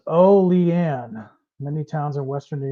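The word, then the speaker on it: Olean: I was it's SP it's pronounced o lean many towns in Western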